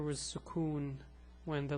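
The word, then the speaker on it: سكون: name is suon so this shape is called sukon what does it do well it gives just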